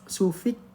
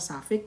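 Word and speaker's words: suffix: Sufix prefix itu bacanya safix prefix gitu ya.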